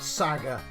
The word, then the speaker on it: SaGa: But yes, I should get the pronunciation. I know it's Saga. It's Saga. I'm playing Saga.